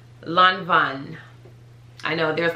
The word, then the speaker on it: Lanvin: on my instagram and i used to say la vin i literally just used to say lon veen but it's lanvin lanvin i know there's like a secret h in